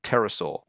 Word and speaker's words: pterosaur: Next up, this is one slightly trickier because we've got a silent P in there, which throws us out. This one is called a pterosaur. So three syllables, ter, o, saw, pterosaur.